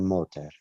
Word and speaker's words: motor: Déjame ver el motor. Abre el capó. El capó. El motor. No, el acento está en la segunda sílaba.